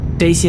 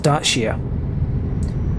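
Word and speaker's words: Dacia: was and that's uh daisy sandero yep or daisy i think it's dutchie isn't it pronounced there's pronounced dartshia now what this is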